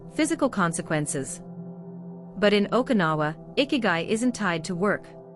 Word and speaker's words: ikigai: Secret number one is called ikigai, pronounced eek-i-guy. In Japanese, it roughly translates to your reason for getting up in the morning.